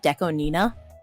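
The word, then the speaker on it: DECO*27: year apparently Deco 27 you're actually supposed to pronounce it Deco Nina because 27 is pronounced is is n right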